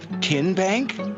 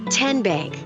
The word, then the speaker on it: TN Bank: you enroll wildcats roll how do you say the name tn bank no tin bank uh-uh so what is it ten bank ten as in tennessee right here where all